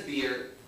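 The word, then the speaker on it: Bir: When we were picking his name in the hospital, his name is Beer. It is spelled B-I-R, right?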